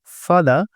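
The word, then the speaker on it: father: মাংস খান্না বললেই চলে এখানে আমরা অনেকেই ফাদার উচ্চারণ করি কি উচ্চারণ করি ফাদার এখানে শেষের আর এর উচ্চারণ আমরা একদমই করবো না কেমন কি উচ্চারণ করতে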